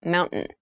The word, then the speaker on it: mountain: Keep in mind when you pronounce this word in fast speech, it sounds like mountain. The T sound is reduced.